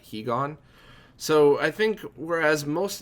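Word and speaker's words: higan: So I think I just spelled out BYUU because that's made sense to me, and I'd always pronounced it Heigen, not Hegon.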